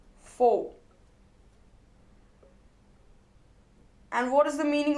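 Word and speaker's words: faux: with their for intuition it is written as f aux but it is pronounced as four and what is the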